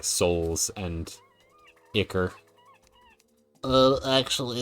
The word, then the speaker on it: ichor: Because they stick you with ichor. And I like rhymes too much to let that go to waste. Okay, more palladium. I've always pronounced it as Icar, so you're correct.